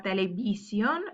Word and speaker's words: televisión: Mirar la televisión. Remember that V is pronounced like a B.